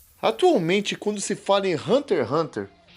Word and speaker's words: Hunter x Hunter: Quest e se pronuncia Hunter Hunter mesmo é Hunter versus perguntas primeiro deixando claro a pronúncia correta é Hunter Hunter esse x aí não é pronunciado é Hunter Hunter beleza e quanto tá